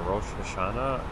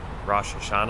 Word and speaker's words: Rosh Hashanah: it in America, or the way we say it in English is, Rosh. I can't even say it in English anymore, Rosh Hashanah, because I say it like that, Rosh Hashanah.